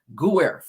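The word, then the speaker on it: Giuffre: sexual abuse on Virginia Guerf. That's how you say her name.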